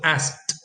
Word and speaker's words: asked: you will see how the conditioning k sound makes us pronounce this as t. So asked. And as a matter of fact, the k sometimes disappears in connected speech.